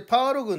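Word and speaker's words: 八路軍: がですねいわゆる第八路軍といってそれパール群って読むんですけどもギリア戦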